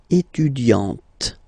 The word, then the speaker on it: étudiante: Okay, but then for the feminine form, elle est étudiante. Okay, t. Okay, you don't really insist on the e, but you insist quite much on the t.